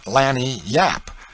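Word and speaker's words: lagniappe: A nice limber, expressive, handy word, lanyap. They pronounce it Lanni yap.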